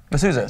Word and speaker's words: mezuzahs: Mezuzahs.